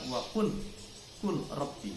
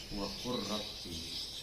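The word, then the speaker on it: وَقُلْ رَبِّ: Kalau dilihat lafalnya wa kul rabbi, tapi bacanya wa qur rabbi.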